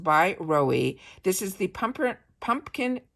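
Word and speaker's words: BYROE: that I'm loving it's b y r OE that is pronounced by Roy this is the pump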